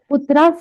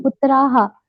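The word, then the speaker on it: पुत्राः: पुत्रास नहीं, पुत्राहा.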